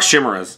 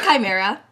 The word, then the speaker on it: chimera: um all right so let's talk shimmerz I can't even I can't do this it's a chimera it's a chimera I couldn't I couldn't have I'm sorry I'm that is a very bizarre pronunciation of shim okay so I see